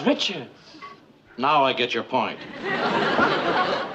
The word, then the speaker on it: Richards: You said Rickards. I don't get your point, Murr. Her name is Richards.